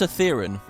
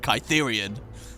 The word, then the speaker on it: Cithaeron: It's pronounced Cithaeron. Yeah, I guess my crazy botched pronunciation of Cytherian. It's not Rion, is it? It's just Run.